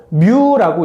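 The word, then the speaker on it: μ: 자, 거시계는 마이크로미터보다 크면 그러면 거이라고 하고 나노미터보다 작으면 밑이라고 합니다.이 마이크로미터에 들어가는이 문자는 m에 해당하는 그리스 문자로서 뮤라고 읽고 단위 앞에 올 때는 마이크로라고 읽습니다.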